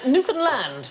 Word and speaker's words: Newfoundland: island called Newfoundland no it isn't a correct pronunciation Newfoundland pilots gonna show you yeah Newfoundland is the correct pronunciation and in 1876 a